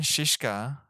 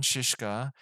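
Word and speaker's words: Žižka: true story of Jan shishka at least that's how they pronounced in the movie like shish kebab one of the greatest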